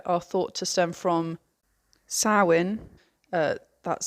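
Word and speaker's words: Samhain: Halloween Traditions everywhere are thought to stem from sin uh that's spelled s a m h a i n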